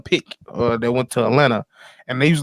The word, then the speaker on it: Atlanta: said Atlanta you said Atlanta the right way we don't pronounce the second T well you know was